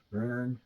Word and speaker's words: Bön: Bön religion, Bön religion, it's the O with two dots, so that's pronounced sort of like Bön, burn, I don't know, religion, and the Nyingmapa, or ancient school of Buddhism, reassert themselves.